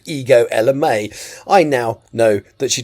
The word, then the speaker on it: Ego Ella May: It may be written Ego, but it's pronounced Ego. So, apologies. So, today, I'm going to talk about Good Intentions by Ego Ella May. Ego Ella May is an R&B, neo soul, and contemporary jazz